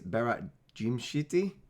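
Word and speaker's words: Berat Gjimshiti: I have looked at how to pronounce this. It apparently is Berat Jimshiti.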